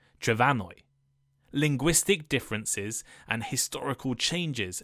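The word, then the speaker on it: Trefynwy: And a few centuries ago, the M in Welsh somehow changed to an F, pronounced like a V, making the modern Welsh name Trefanwy.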